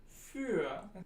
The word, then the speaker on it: für: So you've got words like Bühne or für or typisch. And to pronounce this phoneme, you start with E and you round your lips, not just a little bit, but a lot.